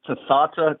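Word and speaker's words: Tatha: What it is again to Oh, it's it's Tata.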